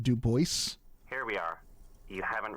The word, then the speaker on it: Dubois: It's pronounced Dubois.